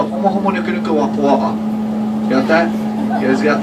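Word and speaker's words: humuhumunukunukuāpuaʻa: So for those of you that don't know how to say it, I'll teach you how to say it. It's the homo homo nuku nuku wapua'a.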